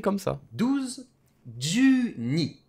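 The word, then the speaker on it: 二: facile facile le ca se dit tout simplement ni 5 ça se dit gogo neuf ça se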